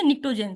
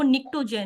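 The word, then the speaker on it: pnictogen: इसको आप ऐसे याद रख सकते हो, निक्टो पी साइलेंट है फॉर एग्जांपल, आप समझो पी है ही नहीं।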